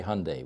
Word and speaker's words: Hyundai: Hyundai Hyundai yeah you if you want to pronounce every uh vowel in there you're going to be in trouble so just say Hyundai we do what we do in America which is ignore certain vowels but forgive us our